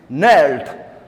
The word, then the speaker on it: knelt: men Muhammad was like the bending his hands knelt GNA are led is she should be silent and it should be pronounced as knelt and twisted like the root